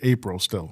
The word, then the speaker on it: Apriel: But it's but it pronounce it April still.